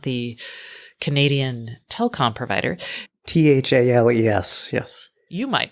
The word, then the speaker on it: Thales: Thales, yes. You might pronounce it as Thales.